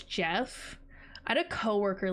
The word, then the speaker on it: Geoff: it's not spelled Jeff, it's spelled Geoff, so it's spelled like Geoff, but it's Jeff.